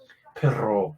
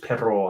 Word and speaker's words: perro: Pero means but, and perro with 2 R's. No, actually, with 2 R's, it's got a different pronunciation, isn't it? Perro. Remember, it's perro.